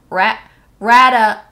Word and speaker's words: Rattata: Rattata.